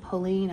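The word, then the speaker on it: Polène: said before it's giving like Poland Pauline I think is how you say it that Parisian brand that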